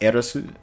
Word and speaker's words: Aerith: I mean, even though I'm gonna call her Aerith, even though technically it's pronounced Eris.